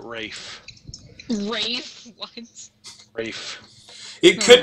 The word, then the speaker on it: Ralph: kid in school yeah his name was spelled Ralph but he pronounced it Rafe ra what Rafe it